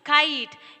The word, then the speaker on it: kite: When we are adding the letter E, it becomes kite, A sound.